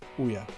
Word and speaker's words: Ouya: I have a really bad problem with like mispronouncing like game things. Ouya, that's right.